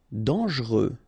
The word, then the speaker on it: dangereux: Dangereux. Okay, so final X not pronounced, and then don't really pronounce this here.